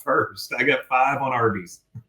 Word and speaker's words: Arby's: they ended up choosing Arby's which was a phonetic pronunciation of the letters R and B short for Raffle Brothers.